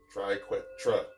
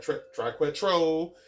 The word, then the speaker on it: triquetra: Note the A on the end. Triquetra. Not quite triquetro. It's not triquetroni. It's not triquetri. Okay? Triquetra. This is a Latin word.